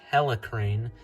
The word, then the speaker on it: Helicrane: Helicrane is the correct pronunciation of this set.